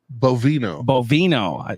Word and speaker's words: Bovino: How do you pronounce this brewery? Bovino.